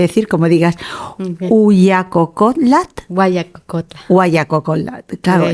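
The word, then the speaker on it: Huayacocotla: como digas uac cotl guayacocotla guacolda claro la H se pronuncia como una G Gua guacolda desde una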